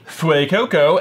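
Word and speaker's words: Fuecoco: We learned from somebody somewhere along the way that it's not Fui, it's Fue. Fue. Which makes sense, because like Fuego, Fuego.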